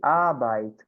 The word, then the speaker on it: Arbeit: Esse EI, gente, tem som de I em alemão. Então, sempre que tiver uma palavra com EI, a gente vai falar I em vez de EI. Exemplos. Die Arbeit, o trabalho.